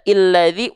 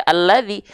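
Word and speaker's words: الذي: Ini juga sama kan kenapa dia enggak dibaca illadzi ulladzi tapi dibaca alladzi karena ini Hamzah wasalnya setelahnya adalah huruf lam ya Ee ya paham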